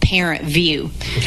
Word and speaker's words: ParentVUE: But parents will access a plat a They go in through a portal called ParentVUE. And it's spelled funny.